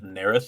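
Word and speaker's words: Naerth: Uh, I will also say his name is Ner.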